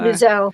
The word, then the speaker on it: Wiesel: Eli Wiesel Weisel? or Wiesel, thank you. Viktor Frankl are the big ones. Yeah, yeah. before him. Um, oh, Elie Wiesel. Mhm. Is that what you meant? Elie Wiesel.